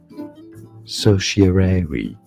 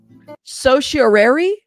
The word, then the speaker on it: certiorari: It can be said two different ways. Certiorari. Certiorari? Certiorari, or it is also correct to say certiorari. Certiorari or certiorari?